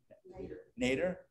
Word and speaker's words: nadir: The nadir? How do you pronounce it? Nader. Like Ralph?